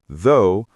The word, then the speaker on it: though: If you hear though, you'll realize the GH is completely silent.